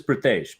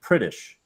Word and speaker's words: Pritesh: when I met him, his name is Pritesh, Pritesh, right? But he had started calling himself Pritish because it was easier for like people to pronounce than it was to say Pritesh.